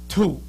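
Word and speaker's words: 土: Now, it's pronounced two.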